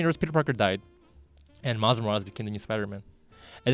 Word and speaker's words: Miles Morales: Okay, let me pronounce his name. Miles Morales.